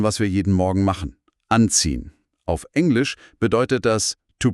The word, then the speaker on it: anziehen: Die Betonung liegt auf an. Anziehen.